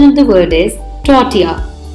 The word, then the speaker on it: tortilla: often incorrectly pronounced as totala please remember this is a Spanish word and Spanish Double L is pronounced as Y therefore the correct pronunciation of the word is Tatia Tatia now listen to the